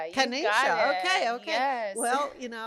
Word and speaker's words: Kennisha: Kenisha, it's so good to have you here. Am I saying your name right? Is Kenisha or Kenisha? Kenisha. Yes. Kenisha.